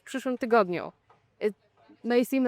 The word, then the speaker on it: tygodniu: form, which is tydzień, tygodniu, but also the stress changes. Tydzień, the stress is on the first syllable. Tygodniu is on the second because you add something else.